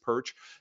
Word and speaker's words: Pyrcz: as Susan said its perch it's just perch in fact if you pronounce it just like this like the fish you've got it you've nailed it I